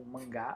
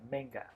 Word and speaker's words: manga: Então, mangá, ou em inglês se escreve do mesmo jeito, mas a pronúncia é um pouquinho diferenciada. Manga.